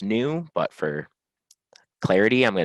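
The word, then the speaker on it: GNU: out of the G new I know it's pronounced new but for Clarity I'm going to say ginu the g new Emax manual so defining a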